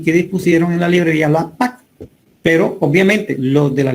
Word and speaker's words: LAPACK: Pero en inglés se escribe la PAC o LA-PAC como de paquetes, de package.